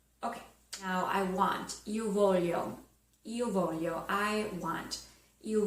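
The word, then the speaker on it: voglio: or a cappuccino okay now I want you volume you volume I want you volume I want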